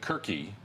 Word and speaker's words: KeepItQuerque: we want people to keep it quirky thank you for saying it right you know nobody says albuquerque